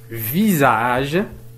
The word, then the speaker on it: visage: sont écrits en rouge visage maison visage maison nous avons ici la lettre s mais qui se prononce avec en z la même chose